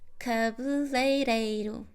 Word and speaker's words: cabeleireiro: Because the issue is in these two syllables. Lei, rei. Cabu, rei. And then ru. Cabu, rei, ru.